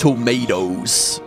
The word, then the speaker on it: tomatoes: Tomatoes. Tomatoes. I'm seeing you. You got to do the global stop. Don't pronounce that T. Just gloss over it. And definitely don't pronounce it as a D.